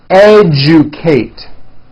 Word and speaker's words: educate: digests rejoice objective majesty educate that has also an unusual pronunciation let me break it down for you and you Kate Oh Juke Kate next one suggestion this